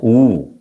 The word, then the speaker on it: eau: ഇറ്റ് is pronounced as ഊ. ഊ എന്നാണ് അത് pronounce ചെയ്യുന്നത്. EAU എന്നാണ് എഴുതുന്നത്, പക്ഷെ പ്രൊനൗൺസ് ചെയ്യുന്നത് ഊ എന്നാണ്.